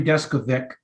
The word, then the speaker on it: Deskovic: Yeah, Jeffrey Deskovic. You weren't completely off. Were we to be in Czechoslovakia, it would be pronounced Deskovic.